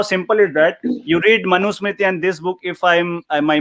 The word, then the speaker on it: Manusmriti: It is Manusmriti.